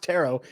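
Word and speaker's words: Turo: Dynasty today show also brought to you by tarot tarot is the world's largest car sharing marketplace with tarot and it's t-u-r-o but it is pronounced tarot you can book any car you want wherever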